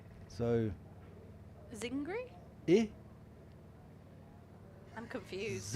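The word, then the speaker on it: I Zingari: Uh Jamie Vanza said we didn't pronounce e zingari or it's a short i that sounds like hit with the emphasis on zing and not on gar. So zingry i I'm confused. Zinger zingry.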